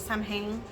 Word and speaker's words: Samhain: we call Samhain, because that's the way that it's spelled, and we're Hispanic, so that's how she says it, Samhain.